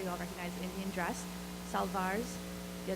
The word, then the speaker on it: salwar: Salwars, yeah, the W is pronounced like a V, took me a while to get that, which is basically shirts and scarves.